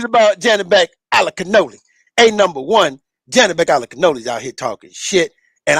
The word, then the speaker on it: Janibek Alimkhanuly: My man Janibek Alimkhanuly. Did I say it right? Good job, man.